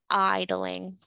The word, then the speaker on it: idling: It's with a long I, idling.